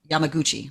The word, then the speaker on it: Yamaguchi: man let me see I think his name is pronounced suu suumo Yami Yamaguchi like Christy Yamaguchi so suumo Yamaguchi survived